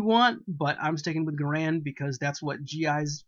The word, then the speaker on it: Garand: I know there's been a push in recent years to pronounce it Garand, or however the inventor's name was pronounced. The man may have been Garand, but the weapon was a Garand.